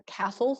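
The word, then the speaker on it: CASLS: applied second language studies or castles that's how we pronounce the acronym and they create a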